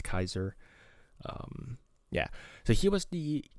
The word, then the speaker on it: Caesar: Well, obviously, it's pronounced Julius Caesar nowadays, but it should be Julius Kaiser.